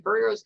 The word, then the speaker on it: vireo: One of the first questions that I saw was, I'm going to pronounce it wrong. Do vireos come to feeders?